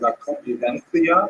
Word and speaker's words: Convivencia: Spaniards say something like La Convivencia because they pronounce that C as a TH sound.